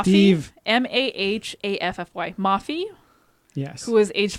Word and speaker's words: Mahaffy: The remains were identified as those of a woman named Leslie I can't pronounce his name. Maffey? Steve. Mahaffy.